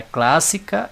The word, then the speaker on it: clássica: Então, a sílaba tônica ela não é a última, nem a penúltima, ela é a antepenúltima.